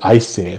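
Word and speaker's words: Æsir: relatively easy to pronounce it's just more of a more of an eye sound as almost as in ice um and the th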